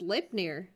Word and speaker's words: Sleipnir: Pronounced Sleipnir. Like sleigh with a P dash N-I-R.